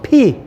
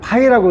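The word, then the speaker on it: πῖ: 아 발음으로 피. 자, 우리가 배웠어요. 이게 뭐죠? 그러면 안 된다니까요. 이거는 예, 우리는 이렇게 헬라어를 갖다가 마음대로 그냥 파이라고 하면 파이 먹으려고 하면 안 돼.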